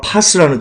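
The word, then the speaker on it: πᾶς: 따라서 세상에는 모든 것, 여러분 이 모든 것 중에서는요, 이 모든 것의 단어가 파스라는 뜻입니다. 파스. 몸에 붙이는 파스가 아니고요. 원문으로 파스라고 발음합니다.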